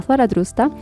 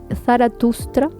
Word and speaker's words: Zaratustra: conoce por cierto como zaratrusta zaratustra siempre lo pronuncio al revés y fundada aproximadamente o